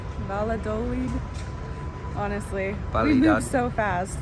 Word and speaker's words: Valladolid: All right, according to Google, it's Valladolid.